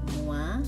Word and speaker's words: moi: To present oneself, OI is pronounced as wa, not oi. So this one is moi je suis et toi.